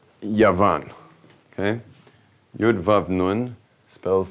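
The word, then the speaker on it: יון: in Hebrew, which is Yavan, it's spelled like this: a yud, a vav, and a nun. Okay? Yud, vav, nun, which spells the word Yavan.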